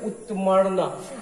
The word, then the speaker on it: उत्तमर्ण: यदि री अण के ऊपर रेफ है तो इसका उच्चारण एक अंक पहले करते हैं, जैसे उत्तमर्ण।